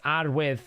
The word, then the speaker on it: Arwydd: This Arwydd... I'm going to speak Welsh right now. Arwydd Quivergrass. That's how you say her name.